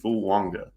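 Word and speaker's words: Fuaga: McCarthy and that's TSI fanga there is an in in there even though it is not spelled like that it is pronounced that way um if you look at the pronunciation Tois Fu Wanga um to Minnesota so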